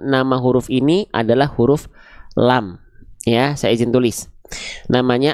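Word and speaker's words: ل: Ya, saya izin tulis namanya adalah huruf lam. Jadi, ketika dia belum punya harakat, jangan teman-teman bilang ini adalah huruf la. Tidak ada huruf hijaiyah yang namanya huruf la. Ini namanya adalah huruf lam.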